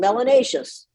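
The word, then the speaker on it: melanaceous: skin should be called melanaceus they have more melanin in the skin and melanaceus rhymes with gracious and spacious and efficacious let's start let's start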